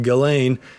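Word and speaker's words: Ghislaine: glain Maxwell jine Maxwell for some reason it's pronounced galain um she has been arrested from in New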